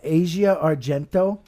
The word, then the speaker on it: Asia Argento: that would you say that Asia Asia yeah Asia Argento that was uh Bourdain's ex-girlfriend yeah you guys